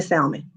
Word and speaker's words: salmon: So you could be, here you are, and I know the L is silent.